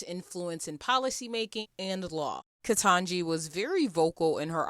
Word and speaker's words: Ketanji: The next headline, as I said before, is Living Black History, as Ketanji Brown Jackson was nominated as the first Black Supreme Court Justice.